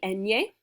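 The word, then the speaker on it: eñe: turtle little turtle seniala the little n with a mustache sounds like an n y combination in spanish it's nya it's called the enye senyala means point to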